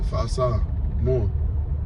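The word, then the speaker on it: Fa'asāmoa: Fa'asa. More.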